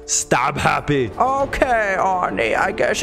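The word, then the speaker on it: Stabhappy: a melee weapon there Rick dolphin and it's pronounced stab happy okay Arnie I guess it's your turn stab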